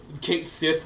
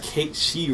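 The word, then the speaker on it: Cait Sith: Yeah, I used to say Kate. Kate Sith, because that's what it's spelled like. That's what it spelled like. But it's like Kate She or something.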